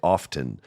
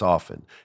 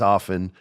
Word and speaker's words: often: T even though it's often. It's just a habit. They can't break it. They know it's often. They know you don't pronounce the T, but they do it anyway.